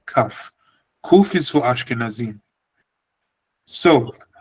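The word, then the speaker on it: כף: Ashkenazim in the Ashkenazim in Europe, they say kuf, but we say kaf.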